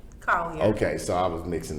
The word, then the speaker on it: Collier: I think your last name is pronounced like Collier. Collier.